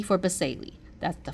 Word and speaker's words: basale: I say that it sounds like the word spells like base, so the bottom layer, stratum basale.